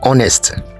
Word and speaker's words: honest: needs blank honest answer the first letter H in this word is silent and so we are left with o n e s t honest and honest begins with